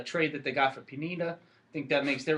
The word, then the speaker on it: Pineda: that they got for penina i think that makes their rotation that's how they say his name penina which is funny the